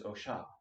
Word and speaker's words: Osha: It's referred to as Osha, if you want to pronounce it correctly, but Osha.